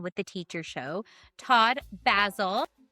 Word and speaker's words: Basil: It's pronounced Basil, but if you want to change it, that's fine.